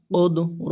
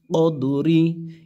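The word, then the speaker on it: قدر: লাইলাতিল উফ দাল জবর কদ র জের রি কদরি এই জায়গায় যেহেতু আয়াত শেষ আমরা থেমে যাব ওফ হবে ওফের কারণে কি হবে কদর কদর শেষে যেন র উচ্চারণটা আসে লাইলাতিল কদর ইন্নাসাল্নাহু লাইলাতিল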